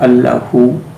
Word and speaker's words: Allahu: When we use the word Allahu, the focus goes on Al. The next syllable is Ah, and then Hu.